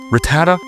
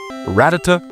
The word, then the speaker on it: Rattata: How do you guys pronounce Ratata? Rattata. Ratata.